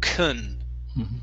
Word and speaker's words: can: the word and uh can is gonna be pronounced kun okay and she cannot